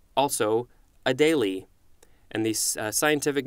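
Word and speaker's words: Adélie: an animal Adelie penguin let's see if I'm pronouncing that correctly a daily a daily penguin capital a de and there's an accent over the e li e this is a noun from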